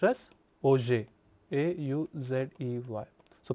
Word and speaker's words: Auger: Here we say that O-U-G-E-R, it is not pronounced as Auger, but it is pronounced as Auger, A-U-Z-E-Y. So, pronunciation is more like Auger electron spectroscopy, and as we see that we